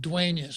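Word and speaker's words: Dueñas: the hyphen is it's spelled duenas but of course we know we pronounce it dueneus because the daily news apparently can't put a tilde above and in when they're setting up their type so if i were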